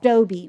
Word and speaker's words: Dobby: It's pronounced Doby, right? Got it. Doby, right.